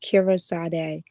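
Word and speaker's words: Kyree Sade: you guys can follow me on Instagram at KYREESADE. It's pronounced Kira Sade. Kira Sade.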